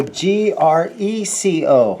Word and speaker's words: Greco: possibly ask for so g-r-e-c-o yes greco graco depending on graco i want to pronounce it but this is what